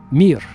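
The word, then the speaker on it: мир: In Russian, it's the the word mir. M I just three letters. Mir just like the space station. Remember the Soviet space station called mir.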